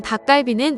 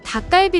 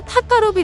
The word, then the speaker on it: 닭갈비: 이름만 바꿔 벤치마킹한 것이었습니다 일본에서는 닭갈비 라는 발음은 정확히 못하고 타 까 루비 라고 부르죠 그렇다면 일본인들은 닭갈비를 어떻게